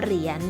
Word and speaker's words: เหรียญ: คำ นี้ ก็ คือ เหรียญ ค่ะ หอ รอ อี เฮีย โย เหรียญ เรา ใช้ ยอ หญิง เป็น ตัว สะกด ค่ะ แต่ เวลา ออก เสียง ก็ ออก เหมือน กับ น้อง หนู แม่ กน เลย ค่ะ ม.ค มี คำ นี้